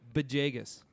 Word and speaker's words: Villegas: should insane uh Camille beas what's with the be at the start of his name I don't know that's how it's pronounced I know but can